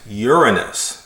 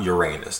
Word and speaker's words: Uranus: astronomy so this is my favorite planet Uranus that's the correct pronunciation not Uranus that's not the right way to say it so my wife gave